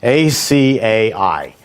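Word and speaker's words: açaí: so acai um impossible you have to say it right it took me a year and a half to learn how to say it because otherwise you're going to embarrass yourself a-c-a-i or akai or aki it's impossible to say but uh once you catch on that it's acai it's quite easy it's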